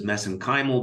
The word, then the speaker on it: mesenchymal: And of course, you study MSC stem cells, which I pronounce as mesenchymal because that's how they pronounce it in Ireland.